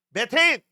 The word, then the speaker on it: 메테인: 그다음 CH4 뭐라고 읽어야 돼? 메테인.